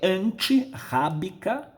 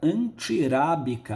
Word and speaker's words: antirrábica: Mas se eu juntar apenas, eu vou ter um R entre 2 vogais. eu vou alterar a pronúncia, vai ficar antirábica, arábica. O R, quando está entre duas vogais, um R só, ele é fraco.